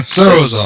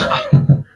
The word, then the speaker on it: Straskan: Yeah, Sarazan. That's how. No, that's. Straskan. But you Yeah, pronounce it like remember, Zaskan. That's how you pronounce it.